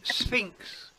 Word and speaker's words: sphinx: It's called a sphinx. A sphinx. Sphinx. A sphinx. We say it like a S and an F. SF. IX. We say sphinx.